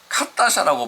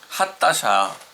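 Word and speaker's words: חדשה: 하타샤라고 하는 이는 헤트는 하타샤, 그냥 K에 가깝게. 그래서 어떤 사람 보면 카타샤라고 발음할 정도로 세게 하기 때문에 하타샤 이렇게 발음하는 게 좋겠습니다.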